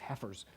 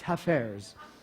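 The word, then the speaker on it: Hafez: Who knows, maybe it's Heifers. It's Hafers.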